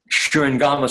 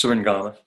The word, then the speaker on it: Shurangama: There's the Shurangama Sutra. It's spelled Shurangama, Shurangama, but sometimes it's Surangama Sutra.